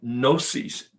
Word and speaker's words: gnosis: the agnostic comes from gnosis this the g is silent g-n-o-s-i-s gnosis which means knowledge and